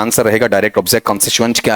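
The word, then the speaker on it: constituent: answer रहेगा direct object कॉन्स्टिटुएंट क्या है आपका ओ और ये भी ध्यान रखना यहां उच्चारण करते हो ना टुवंट नहीं आएगा आएगा च साउंड आएगा कॉनस्टिटुएंट इस तरीके से बताओ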